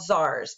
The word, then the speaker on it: czar: Sometimes they pronounce that as czar and leave the C silent.